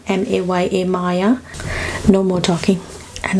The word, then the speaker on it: Maya: and somebody asked me how to pronounce my name. My name is Maya, M-A-Y-A, Maya.